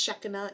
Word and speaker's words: Shekinah: And they actually call it in Hebrew Shekinah. It's actually pronounced Shekinah in Hebrew.